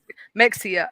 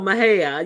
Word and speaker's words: Mexia: No, Mahia. Yeah, I didn't know how to say it at all when you look at it how it's spelled, and I was like, oh, that's pronounced Mahia.